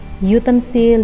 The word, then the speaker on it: utensil: Ketika ada vowel u, huruf vokal u itu kan dibacanya u ya, u, ada huruf y di situ. Berarti ngomongnya utensil, university.